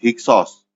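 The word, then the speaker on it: Hyksos: dari orang-orang yang disebut hiksos hiksos adalah pelafalan Yunani dari kata Mesir kuno hekaukasut hekaokasut artinya adalah penguasa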